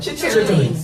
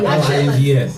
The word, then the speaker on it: chitterlings: Chitterlings. CHITTERLINGS. Not chitlins. Not Chitlins. not INS, it's INGS. So I pronounce them chitterlings.